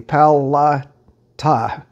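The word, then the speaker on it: Palatka: 10 miles south of powell lock and i'll just spell it for you p-a-l-a-t-k-a pow la ta if you drive across the dam and go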